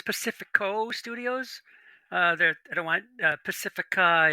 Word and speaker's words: Pacifica: I use the Spanish language pronunciation of that word, Pacifico.